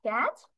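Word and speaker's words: catch: তারপরে এখানে দেখো, লাস্টে আমি সরাসরি চ বলতেছি, টির প্রোনাউন্সিয়েশন ওভাবে আর হয় না, আমরা কিন্তু ক্যাট ট এসে তারপর চ বলিনি, তাহলে টির প্রোনাউন্সিয়েশনটা উজ্জ্ব হয়ে গিয়েছে, মানে এখানে উচ্চারণ হয়নি বাট বানানে আছে।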